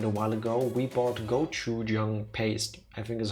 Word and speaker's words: gochujang: Motanad, you get half a credit for that because after you kept mentioning it a while ago, we bought gochujang paste. I think is how you pronounce it in English.